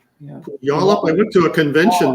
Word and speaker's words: Puyallup: Puyallup. I went to a convention there with David. We went to Comic-Con there, and the whole weekend we were saying the name wrong. Wallop. Well, we're calling it Polyup.